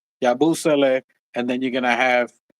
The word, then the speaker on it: Yabusele: You're gonna have Josh at the 3, Yabusele, and then you're gonna have. It's crazy because do you need a truth? Yabusele.